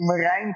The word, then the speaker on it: Merijn: How do you pronounce the name? I keep buttering your name. I feel it's Marijn. You're doing it quite well. Yeah, you're doing it quite well, Martin. Yeah. Thank you. It's Merijn.